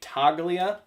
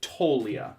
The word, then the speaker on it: Toglia: three years it's Michael I say toglia you don't even pronounce the G Michael tolia Talia and I was waiting